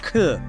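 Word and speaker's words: 九: The number 4, pronounced shi like death, and 9, pronounced ku like suffering, are shunned.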